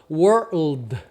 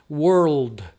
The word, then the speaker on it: world: Então, por exemplo, aqui, ó, o R tem o som do R do caipira, were.